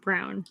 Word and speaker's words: Braun: shop the repair shop mr brown or braun i can't really decide which but it sounds like brown yeah they say it brown but i mean that's brown it's brown that's how you say it he calls it he